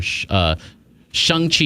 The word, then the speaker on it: Shang-Chi: Anyway, so it's premiere week for Hollywood premiere week for Shang Chi is how you say it. Yeah, Shang Chi. Look at you with the pronunciation.